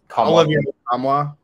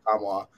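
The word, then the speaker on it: Nkamhoua: And the Tennessee transfer, Olivier Kamwa? You don't pronounce the end. Yeah, Olivier Kamwa from Tennessee.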